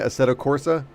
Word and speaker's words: Assetto Corsa: Assetto Corsa.